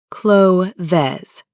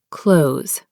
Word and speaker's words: clothes: Many say cloves. It's actually clothes.